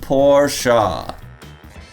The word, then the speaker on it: Porsche: story behind this legendary porsche and yes it's pronounced porsha to understand how the 911 sprawling model range